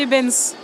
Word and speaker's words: Eybens: Ebens. R.G. Ebens. Oui. Et, pour le prénom, comme votre micro, d'ailleurs. Ah oui, ah bah ça, quel hasard, ça. Voilà, donc R.G. Ebens.